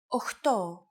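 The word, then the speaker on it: οχτώ: Sometimes, though, especially in casual conversation, Greeks also use efta instead of epta, ochto instead of okto, and enea instead of enea.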